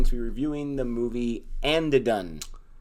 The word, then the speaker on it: Andhadhun: Because we are going to be reviewing the movie Andhadhun. Is that how you say it?